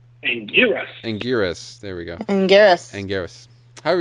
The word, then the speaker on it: Anguirus: But in the meantime, Godzilla comes up against a spiny 4-legged kaiju called, and I'm going to mispronounce this, Anguirus? Anguirus.